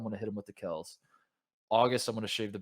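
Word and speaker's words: Kelce: the bomb that like his name is not kelsey it kells yeah it's pronounced kells and oh so there's like a transformation yeah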